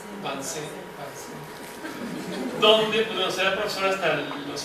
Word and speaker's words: Vincennes: Vicens, ¿cómo se pronuncia? Vincennes, donde pues, será profesor hasta finales de los años 80.